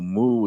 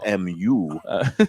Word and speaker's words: mu: So she is now in fi mu. I don't even know moo is one of the letters in the Greek alphabet. It's the m and it's not like a cow and it's mu.